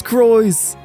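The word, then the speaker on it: Crois: It is Croyce! I heard it spoken out loud!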